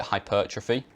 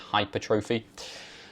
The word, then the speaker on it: hypertrophy: So hypertrophy, I used to call it hypertrophy, but I think that sounds cooler, but I think it's England, it's pronounced hypertrophy.